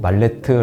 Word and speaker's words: 말레트: 말레트 나무 망치라는 뜻입니다 물론 영어 발음으로 읽으면 전혀 다르게 읽히지만 한국식 영어로 말레트 아고 말하는게 조금 더 자연스럽습니다 가구 작가가 되겠다고 생각하기